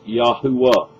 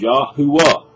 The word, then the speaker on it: Yahuwah: That is Yahuwah. It's a three-syllable pronunciation. Archaeologists have discovered. I can put you on to many, many examples and references and documents that prove that his name is Yahuwah.